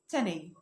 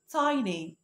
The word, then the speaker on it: tiny: أول كلمة معايا وهي الكلمة دي، أيوة إحنا دايما بنقراها تاني تاني، لأ مش صح، النطق الصح بتاعها tiny tiny tiny مش تاني tiny.